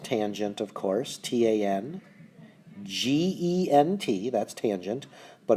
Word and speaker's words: tangent: And tangent, of course, T-A-N-G-E-N-T, that's tangent, but often abbreviated with T-A-N, but still pronounced tangent, not tan.